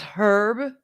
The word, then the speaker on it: herb: they don't see them the h is silent unless it's somebody's name herb you're weird uh